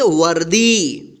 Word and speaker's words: वर्दी: व और यहाँ पे दी में क्या है? रेफ की मात्रा है ऊपर, तो क्या पढ़ेंगे? वर्दी।